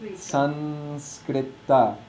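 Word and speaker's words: saṃskṛta: And the corresponding yellow nasal is regular old dental na. So it's pronounced Sanskrita.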